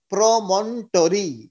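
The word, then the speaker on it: promontory: In fact MBBS pass করার পরে গিয়ে শিখলাম যে আসলে প্রমন্টরি হবে এটার উচ্চারণ, ওটা নাই, প্রমনোটরি না, প্রমন্টরি।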